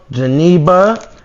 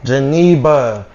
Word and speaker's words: Geneba: We got our girl Geneba. Did I say it right? yes, he did. Geneba.